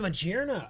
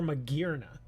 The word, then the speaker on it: Magearna: Is it Magearna or Magearna? I say Magearna. But I have heard other people say Magearna. I always go with the hard G.